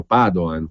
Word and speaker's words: Padoan: al mondo Il ministro Padoan con l'accento sulla prima a naturalmente lo ha incontrato recentemente